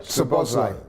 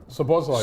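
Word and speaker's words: Szoboszlai: Sabozlai. Sabozlai, Slabozlai.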